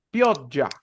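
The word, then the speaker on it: pioggia: aquí una palabra fíjense esta palabra significa lluvia piotya se termina pronunciando así esta palabra es tarde tarde no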